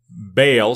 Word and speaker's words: Baal: they've built the temple the arch of Baal some people pronounce it ball and by the way